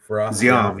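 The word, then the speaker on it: Ziam: Siam, yeah.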